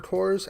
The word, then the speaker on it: Corps: I think he goes by the name on Twitch of Warrior Cores. I think that's how you would say it. Warrior _ CORPS. I'm checking. I'm going to get his name right. Core. No S.